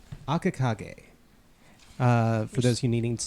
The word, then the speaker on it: Akakage: You've seen him before, and you know that he goes under the title of Akakage. So, Akakage. Akakage. For those who needing to spell it, it is AKAKAGE.